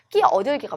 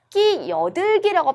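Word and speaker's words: 끼어들기: 끼 얻을기가 맞죠. 끼 얻을기. 근데 발음할 때는 끼 얻을기 해도 되고 끼 여들기라고 발음해도 돼요. 잇몸 순행동화로.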